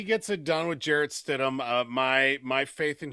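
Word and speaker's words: Stidham: He he goes, "If Payton can win with Jared Studham, Can you even say his name right?" I mean, it's StDum, isn't it?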